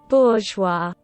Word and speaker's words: bourgeois: Bourgeois. Bourgeois. Yeah, no, that's not how it's spelled. Bourgeois. Where did the G go? What? That's not... That's... That... It's French. Of course it's French.